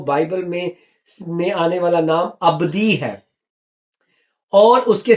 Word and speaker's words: Abdi: رہے ہیں وہ بائبل میں آنے والا نام ابدی ہے، اور اس کے سپیلنگ ہے ABDI، معنی ہے اس کے میرا